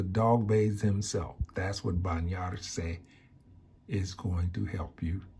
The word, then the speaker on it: bañar: The first word you learned or practiced or learning is bañar and is pronounced bañar.